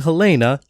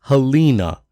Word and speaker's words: Helena: unbelievable to accept also pronouncing Helena as helina hel hel hel hel dude her name is said out loud there's no excuse for this and finally that b